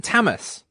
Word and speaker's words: Tamis: Hello, is it Tamis? Yes. Am I pronouncing it right? Yes.